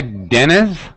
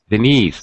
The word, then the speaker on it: Denise: thanks thank you hi Dennis is it Dennis yeah hi Denis oh I was expecting a boy's voice oh is it Denise oh it's like Denise yeah Denise ah is is that am I saying it correctly Denise that's right okay very good where